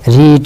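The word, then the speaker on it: read: ঝাল বুঝাই মসলাও বুঝাই রিড মানে পড়া রিড মানে পড়া এর পাস্ট ফর্মের উচ্চারণ কিন্তু রেড যদিও বানানটা একই একটু জেনে রাখবেন রিড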